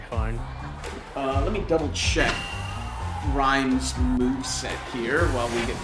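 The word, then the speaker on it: Ryme: Yeah, it's like time the herb, but with a yeah.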